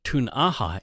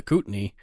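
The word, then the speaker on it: Ktunaxa: So Cranbrook was originally settled by the Tun'aha indigenous people, also called Kootenai, as is the extended local area, and the English folk call them the Kootenai, because that's how they mispronounced Tun'aha, I guess.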